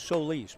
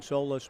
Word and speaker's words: Solis: imparted that unto me he pronounced it properly it is so lease I've been saying Solas my apologies Luke Solis